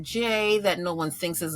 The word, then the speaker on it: Jaye: by making my name j that no one thinks is a real name but it's just like the bird in the sky j a y added silent E because I'm a girl